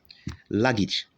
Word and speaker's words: luggage: the same applies here where you have letter a the sound here is e luggage luggage so right here